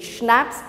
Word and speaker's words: schnapps: to understand the pronunciation snaps in the c is silent so how you pronounce schnatz s h spelling when you write you have to write the c but while pronunciation the c is silent and next is sausage